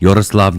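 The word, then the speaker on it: Yaroslav: You know, I worked a long time to learn how to say his name right. It's not easy. Yoroslav Yender. You got to get the rolls.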